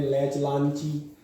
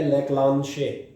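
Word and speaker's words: Leclanché: जाने को पढ़ते हैं लैच लांची। हाँ, जबकि बेचारा लैच लांची नहीं था, ये फ्रेंच स्पेलिंग है, अंग्रेजी थोड़ना है। ये लेक्लांशे फ्रेंच प्रोनाउंसिएशन है, फ्रेंच के अकॉर्डिंग प्रोनाउंस है।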